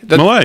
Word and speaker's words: Milei: I'm going to mispronounce his name, Javier Milei. Milei, yes, that's correct.